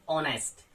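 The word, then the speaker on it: honest: Pronounce नहीं करते हैं, जैसे गोस्ट या फिर ऑनेस्ट। तो यहां हमने एच को प्रोनाउंस नहीं किया तो एच आपका लेटर साइलेंट हो जाता है इन दोनों ही कंडीशन में।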